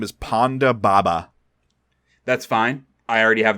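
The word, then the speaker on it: Ponda Baba: alien's name is no the alien's name is Panda Baba that's fine I already have the person and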